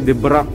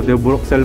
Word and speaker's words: De Bruxelles: Kanina basa ko dyan ay De Brux. Oh, De Bruxelles pala ang pronunciation niyan.